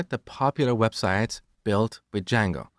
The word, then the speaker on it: Django: So it's spelled with a silent D and it's pronounced Django.